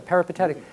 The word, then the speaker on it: peripatetic: The Greeks who walked, and how do they pronounce it? Yeah, peripatetic.